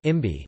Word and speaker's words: cibi: The Sibi, pronounced Imbi, war dance is performed by the Fiji rugby team before each test match.